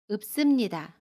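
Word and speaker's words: 읊습니다: 읍습니다는 읍습니다 라고 발음해요. 겹받침 리을 피읍 중에 두 번째 받침 피읍으로 발음을 하고요. 이때 피읍은 받침소리 비읍으로 발음합니다. 그래서 읍으로 발음해요. 그리고 습은 씀으로 발음합니다. 읍습니다.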